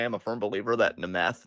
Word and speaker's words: Nth: correct I know it's nth sit the down um but they're call him the meth because his that's how his name is spelled and it sounds like you're saying meth yeah because that's what